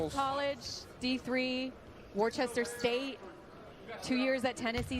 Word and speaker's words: Worcester: We couldn't get Worcester. Sorry, mom. You're right. It's It's It is not pronounced the way it's spelled.